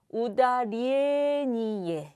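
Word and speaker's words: ударение: 니예 예이 단어는 어 엑센트가 어디 있냐면 우다리 이에 이렇게 됩니다 근데 우다리 이에 이렇게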